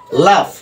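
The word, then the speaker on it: laugh: বাংলায় found create করবে আবার দেখো এটা দেখো লাভ রাইট লাভটা দেখো এল এ ইউ এল এ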